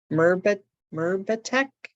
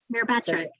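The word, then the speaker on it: Myrbetriq: This question says, can you talk about, and I'm going to pronounce it wrong, Mirbatec? Mirabatric.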